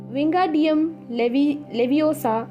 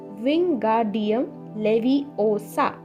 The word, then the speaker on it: Wingardium Leviosa: Wingardium Leviosa, he shouted, waving his long arms like a windmill. "You're saying it wrong," Harry heard Hermione snap. "It's Wingardium Leviosa. Make the gur nice and long."